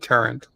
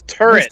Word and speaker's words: turret: Oh, because I said Turrent. Carlo likes how I say Turrent. There's no N in it. It's turret.